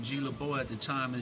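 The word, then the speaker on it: GlaBeaud: It's G-L-A capital B-E-A-U-D. It's spelled LeBeau. The D is silent though.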